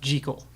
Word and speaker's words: Jekyll: Jekyll it's a it's pronounced G Cole like it sir I like that you know